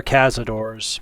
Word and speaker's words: cazadores: I know they're cazadores, but I'm going to pronounce it more Spanish speaking because I like the sound of it, the way it rolls off the tongue.